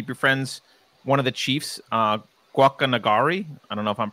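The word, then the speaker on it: Guacanagarí: one of the chiefs, Guacanagari. I don't know if I'm pronouncing that correctly. Is that correct? Yeah, you can say it like that, or you can say Guacanagari.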